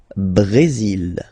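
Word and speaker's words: Brésil: it's only mexic okay Brazil brail okay you will pronounce the final L here and then remember accent goes like brail Brazil okay so you've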